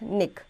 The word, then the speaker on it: NIC: A network card, sometimes called a network interface card, NIC, pronounced NIC, is a communication device that enables a computer or device that does not have built-in networking capability to access a network.